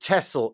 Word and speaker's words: Texel: But this is pronounced Tessle in Dutch.